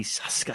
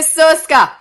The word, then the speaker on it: Soska: I'd like to welcome Jen and Sylvia Soska. Soska. That's all of them. We're saying all of them. If I say it enough, one's going to be right. Well, that was a proper Hungarian pronunciation.